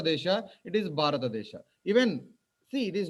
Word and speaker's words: Bharata: Like in Tamilians, they don't have the bha. They call it ba.